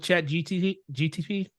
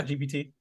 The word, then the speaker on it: ChatGPT: I actually had a friend that actually made his Tinder profile off of Chat GTP. Yeah. Yeah. ChatGPT. Yeah, I said it wrong.